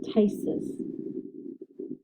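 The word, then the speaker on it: ptysis: plasti is surgical repair remember when we talked about the p before consonant that typically that p is silent so this would be tysus tysis and now we get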